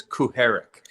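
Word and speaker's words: Kucharek: to stand up I my understanding is they're pronounced pronunciation is KU Herrick oh really we've been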